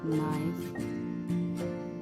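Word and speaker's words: knife: है काट के अब के साइलेंट कहा प होता है जहा प के के बाद एन आ रहा है okay no night नाइफ नी knock and knowledge L की बेसिक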